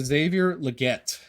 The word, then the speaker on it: Xavier Legette: we're going to get into Xavier Legette that is that is how you say his name according to everything I've heard and I don't like